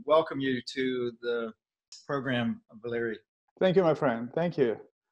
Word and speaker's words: Valery: are doing perfect okay I actually had somebody correct me I was doing an interview with somebody and I was telling them about you and I pronounced your name that way and they said no no it's Valerie nobody except my lady